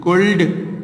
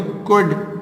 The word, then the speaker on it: could: देखिए कैन एंड कुड, कुड की spelling COULD, कुल्ड लिखते हैं बट इसको कुड पढ़ते हैं, ठीक है।